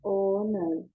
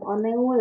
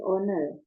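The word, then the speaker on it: 오늘: di sini hari ini bacanya oner oh bukan onul ya ya tapi owner nah yang berikutnya Kita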